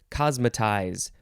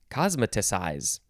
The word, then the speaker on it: cosmeticize: next word it is cosmetize uh no it is cosmetic size cosmeticize cosmeticize that's how you say it cosmeticize verb from